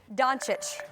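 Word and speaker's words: Dončić: Doncic.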